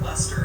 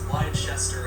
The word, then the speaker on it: Leicester: worthy of all include the cities of leicester and glasgow which in previous videos i pronounced as lychester and glasgow i also took the